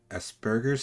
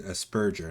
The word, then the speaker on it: Asperger's: on it's called i i always prin i pronounced it wrong for the longest time it's aspur it's a spurgeous asperger's syndrome right but i've always called it a spurger not an asperger asperger's syndrome but uh you